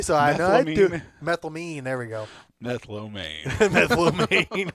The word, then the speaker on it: methylamine: What's It's not methylomane. That does. Yeah, I made it sound Chinese, didn't I? Well, what? Okay, pronounce a word for me so I know I do. Methylamine.